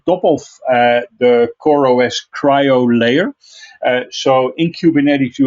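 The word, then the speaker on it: CRI-O: services then we have crio which we should pronounce as cryo which is the openshift containers initiative or oci compliant container runtime and cryo is used as a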